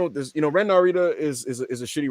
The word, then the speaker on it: Narita: was very inspired here his name is Ren Nita bro stop saying that it's pronounced Nita and that's how uh